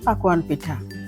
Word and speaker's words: পাকোয়ান পিঠা: গুণে বেড়ে যায় এই পিঠার সুস্পষ্ট উচ্চারণ হচ্ছে পাকোয়ান পিঠা পাকোয়ান থেকে পাকন পিঠা এই পাকন পিঠা বিচিত্র